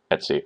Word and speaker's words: etc: But, uh, I have now I can confirm that I've heard admins that are way better than me now also use the term or the phonetic pronunciation, uh, Etsy. So, you can go ahead and use that.